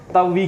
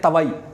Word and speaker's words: तवी: जैसे हम लोग जम्मू वाले तवी कहते हैं, ठीक है, हम क्या कहते हैं, तवी कहते हैं, लेकिन बाहर जितने भी लोग आते हैं वो कहते हैं तवई, है ना, तवई एक्सप्रेस।